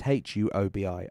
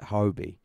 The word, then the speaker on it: Huobi: I always pronounce it Hobi, but that's probably because I'm trying to say half of that name, and also Huawei, which is the mobile phone manufacturer. But I just call it Hobi.